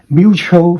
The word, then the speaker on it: mutual: This is the IPA symbols, okay? Going up in the first syllable, going down for the second syllable, okay? So mutual friend.